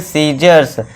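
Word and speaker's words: scissors: सीजर्स।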